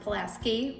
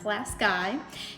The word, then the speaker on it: Pulaski: A lot of people pronounce it Pulaski. We pronounce it Pulaski.